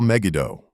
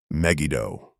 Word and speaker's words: Megiddo: Protocol Megado, not Megiddo. He pronounced it Megiddo. Hard G clipped.